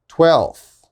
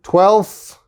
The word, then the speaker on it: twelfth: with native speakers is we don't pronounce the f we just skip it so for example if